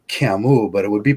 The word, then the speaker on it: Camus: I noticed when I was doing a research project on Albert Camus, and they pronounce it Camus, and then I looked at his ancestry in the town that he lived in, and it was not.